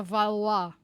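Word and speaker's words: Valois: siya sih of valis how do you pronounce it basta v a l o i s valoes or valua or valoesis sa third princess of France man siya so iassume na to na valwa tama how mo she's the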